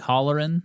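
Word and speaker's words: Halloran: Let me holler at you like Holleran? Yeah.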